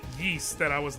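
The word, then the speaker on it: Ys: been around forever and I absolutely did not pronounce its name correctly until like the last couple years I just I need to speak my truth I sure as did pronounce that wise and it wasn't until the first time I heard someone call it yeast that I was like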